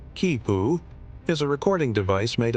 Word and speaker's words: quipu: The quipoo, pronounced kipu, is a recording device made of knotted cords.